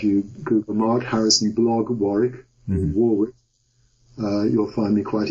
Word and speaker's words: Warwick: Americans pronounce it Warwick, W-A-R-W-I-C-K. So I have some web pages, one that contains preprints of most things I've ever written.